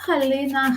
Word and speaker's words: Halyna: Yes, that is a halyna. Halyna, in fact, it would be the Russian Ukrainian pronunciation. Why they put halyna? I guess American pronunciation when she moved to America.